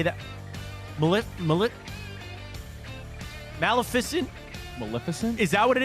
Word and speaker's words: Maleficent: can't say it Maleficent Maleficent there you go Maleficent Maleficent yes this day 1959 was Sleeping Beauty